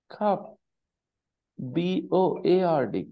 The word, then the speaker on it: cupboard: cover and the spelling is clearly c p cup b o a r d cupboard but the pronunciation is covered so where is the cupboard